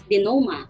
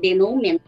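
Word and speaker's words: denouement: We pronounce it as denoma. Okay? It's not denomen.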